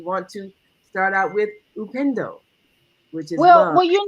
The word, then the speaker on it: upendo: And Maika, you were mentioning the Swahili word for love, which is upendo, upendo, and that is the Swahili word for love.